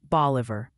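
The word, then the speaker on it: Bolivar: Also, the pronunciation Posi sends word, it's apparently boliver, Tennessee. Think short O harder at the end.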